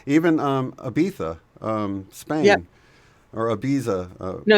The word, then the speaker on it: Ibiza: Ibiza Spain yeah or Ibiza oh no you're saying it correctly they say it I'd be thumb but it's spelled Ibiza right right so over